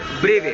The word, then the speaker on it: brevet: ब्रेवे। BREVET। Okay. Pronounced ब्रेवे।